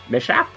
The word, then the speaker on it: mishap: did i say mishap say it like it's written mishap the ship i have never said